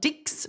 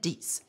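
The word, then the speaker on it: dix: that DS ok this we pronounce not dicks but we said DS 20 is okay that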